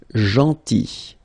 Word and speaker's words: gentil: Then gentil, so remember this final L is not pronounced, gentil, gentil, and it's nice or kind. Then attendre, attendre, remember final